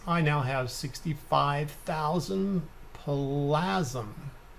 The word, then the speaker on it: Plasm: now have 65 000 plasm plasma hate to say it rhymes with orgasm that's the only way i could remember it right so this screen here